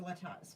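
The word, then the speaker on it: Latosha: So she said yes, it's a Latasha, but like pronounced Latasha, spelled T-O-S-H-A.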